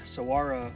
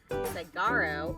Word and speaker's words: Saguaro: Looks like the park is spelled Saguaro with a G right there, but it's not. The G is really a W.